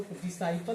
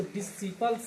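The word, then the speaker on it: disciple: इसलिए यहां पर सी साइलेंट हो गया। इसलिए इसको डिसाइपल पढ़ते हैं। इसको डिसिपल्स नहीं पढ़ते हैं।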